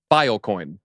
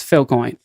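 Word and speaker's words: Filecoin: viable business uh strategy biocoin because that it doesn't actually you don't need a equal distribution geography you're pronouncing it incorrectly I don't think you've been watching the show it's Phil coin yeah got him down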